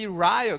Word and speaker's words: Ryle: Ryle, mas a pronúncia correta é J.C. Ryle, que é um grande pregador, conhecido de vários irmãos aqui, um cara que tem edificado muitas vidas.